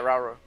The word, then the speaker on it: Rauru: God, I keep forgetting how to pronounce his name. Rauru? Yeah, Rauru.